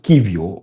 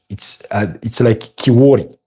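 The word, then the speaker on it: Kiwior: I mean, it's Jakub Kivio, but the way it's written, it's like Kiwori, but it's Kivio.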